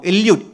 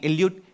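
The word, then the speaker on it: Eliud: मैं हो सकता है गलत नाम लूं तो अंग्रेजी में उनकी स्पेलिंग पढ़ देता हूं। इल्यूट ई एल यू आई डी इल्यूट के आई पी सी एच ओ जी ई के जोगे कितने लोगों ने नाम सुना है?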